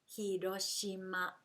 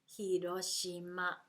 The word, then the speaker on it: Hiroshima: you speak this way take the stress out of your speaking and it will help you to sound more like Japanese hiroshima hiroshima you use all the